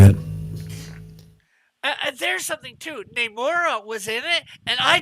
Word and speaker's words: Namor: So there's my not very decently drawn Namor. Oh, Namor. Or as they say, Namor. I don't know why they decided to pronounce it that way.